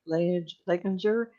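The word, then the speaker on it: Leininger: The parents, Bruce and Andrea, and and how are they pronounced last name? Like Leginger with Ken Ross.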